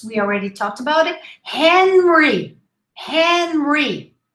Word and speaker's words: Henry: already talked about it henry henry pronounce the age the h in english is always pronounced it's aspirated henry there are exceptions